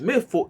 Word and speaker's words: Mefoworade: Okay, we've been speaking with Omagoriopo, Princess Mefoworade. Did I say it right? Mefoworade, the Ah, W is silent. Mefo. Yes, the W is silent in our dialects, both Ondo and Ekiti.